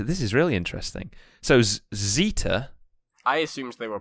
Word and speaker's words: zeta: but yeah apparently apparently zeta is pronounced like the sd in wisdom how often does that